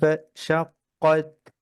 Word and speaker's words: انشقت: إذا السماء انشقت.